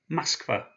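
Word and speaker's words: Москва: Moskva, which means Moscow. And you remember I said because the second syllable is one that's stressed, that first O is pronounced as an A. So Moskva.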